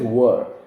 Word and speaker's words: were: And do not say were. Some people have this pronunciation problem saying wear. Wearing is this, I'm wearing a waistcoat and a tie, necktie and a shirt. That's wearing. This is were.